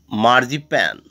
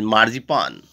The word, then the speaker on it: marzipan: Next word is marzipan. And that is, its correct pronunciation is marzipan. And people often call it marzipan, but is its correct pronunciation is marzipan.